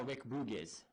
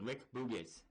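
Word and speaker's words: Rick Boogs: Eric Bugenhagen, which I don't know if that's his actual name or not, he's now Rick Boogiz, which is how you say it, Rick Boogiz.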